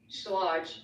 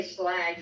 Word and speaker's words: Schlage: I use this Schlage. I want to say Slag because that's our mentor. So I always mess up the pronunciation.